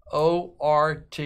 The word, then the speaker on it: Ort: I always say his name wrong. 35 of 99. Milwaukee. Nice autograph there. Joseph O-R-T.